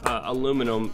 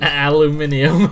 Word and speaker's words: aluminium: she's crying uh side can you pronounce aluminum in but for the Europeans aluminium aluminium I I do I think they spell it I I think they spell it differently so that's why it's aluminium only blank can prevent for